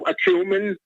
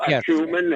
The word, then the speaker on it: acumen: heard the terms political acumen? I know you have political acumen and political perspicacity. It's acumen. You're putting the emphasis on the wrong syllable.